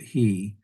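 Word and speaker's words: הִוא: and Deuteronomy, the Torah, it'll be spelled differently. You still pronounce it he.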